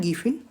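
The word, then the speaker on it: Giffen: यानी जो रोजमर्रा की आवश्यकता पूर्ति करते हैं उनको बोलते हैं गिफिन वस्तु। इसको देखो समझने के लिए, गिफिन टिफिन है ना, गिफिन का प्रोनाउंसिएशन करते हैं तो टिफिन की तरह निकला ना, गिफिन टिफिन।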